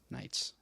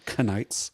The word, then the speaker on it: Knights: Knights. I was going to say kaleidoscopes. I'm just saying it starts with a K, but I mean, you wouldn't know that by pronouncing it. Knights.